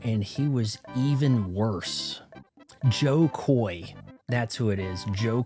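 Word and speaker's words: Jo Koy: Joe Koy, that's who it is. Joe Koy, he would be on Adam Corolla's show and Adam Corolla would call him Joy because he mispronounces all kinds of Joe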